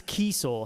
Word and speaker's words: Kiesel: It's actually pronounced, it's Kiesel.